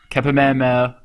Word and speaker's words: Kapehameha: Kapehameha. I'm not even going to say that name. I'm just going to stop. You said it right. Did I? Okay. Kapehameha.